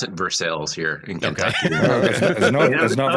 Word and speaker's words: Versailles: Just they pronounce it Versailles here in Kentucky.